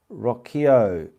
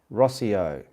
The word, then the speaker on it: Rocchio: Rocchio. It's pronounced Rossio.